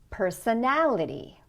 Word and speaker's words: personality: Personality. Make the stressed syllable a little bit longer, stronger, a little bit higher.